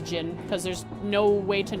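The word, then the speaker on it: Zin: I always have said Zen and unless someone had told me yeah until now I wouldn't have known that it was pronounced as Jin cuz there's no way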